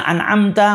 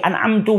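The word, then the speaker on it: أَنْعَمْتَ: Bacaan yang harusnya an'amta menjadi an'amtu, menjadi an'amti. Yang mana itu merubah maknanya.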